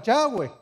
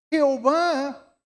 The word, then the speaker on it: Yahweh: Que yo digo mucho la palabra Yahweh. ¿Sí? ¿Por qué? Porque Jehová viene de una muy mala pronunciación.